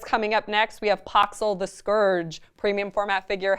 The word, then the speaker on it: Poxxil: a court figure now paxil is the scourge and he is am i pronouncing that right the scourge no it's pox all the scourge okay I'm always